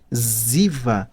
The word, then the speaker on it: Ziva: Ziva, percebe que é um ruído Z, né? Então é o modo mais fácil de você pronunciar qualquer coisa. Verdade. Entendeu? E obviamente Ziva vem de de inclusiva, né?